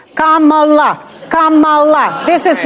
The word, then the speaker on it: Kamala: by the way let's start with that let's pronounce this Kamala Kamala Kamala this is not Kamala which they say on purpose but that's okay